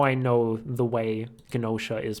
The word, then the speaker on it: Gnosia: So that's how I know the G is actually supposed to be pronounced.